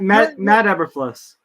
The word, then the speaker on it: Eberflus: Which is Matt Eberfluss. Oh, Eberfloss.